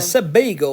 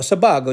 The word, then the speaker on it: Sebago: These were Sebago or Sebago, depending on how you say it or where you're from.